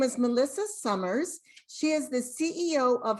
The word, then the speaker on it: Sommers: just did but yes my name is melissa summers i am a board certified music therapist um